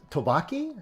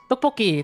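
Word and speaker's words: tteokbokki: It's not It's Is it tobaki? Is that what it is? Topoki. Topoki. Topoki. There you go.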